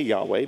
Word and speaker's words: Yahweh: Lord" in all caps, I say Yahweh because that is what the Hebrew says, or that's our best guess as how to pronounce God's name.